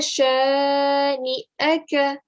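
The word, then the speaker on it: شَانِئَكَ: So hamza, you're going to end up giving an a sound. So you're going to say inna shani'aka. Remember, the ya sound is not present here because there is no ya.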